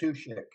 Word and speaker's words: Matuschek: Matuschek.